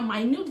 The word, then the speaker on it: minute: और दूसरा यहाँ माइन्यूट जब हम लोग उच्चारण कर रहे हैं तो देयर इज अ